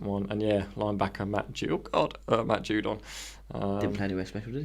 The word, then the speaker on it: Judon: It's pronounced Judon. But in capitals, JOO-DON small.